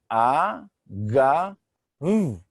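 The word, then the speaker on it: אגב: The first letter is Aleph, with the vowel Patach, A, and together it is pronounced A.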